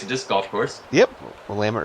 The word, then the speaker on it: Willamette: Willamette River. Or Willamette, if you're not a local. You don't know how to say it.